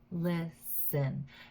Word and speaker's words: listen: not stress it's listen so the stress is on the first syllable listen happen hen happen